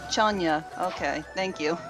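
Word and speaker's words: Chun-nan: It's actually pronounced Chanya. Okay, thank you. Chanya.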